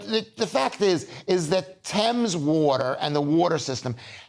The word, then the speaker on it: Thames: It says a 1.6 million pounds a year Thames Thames, not Thames, water board blames it.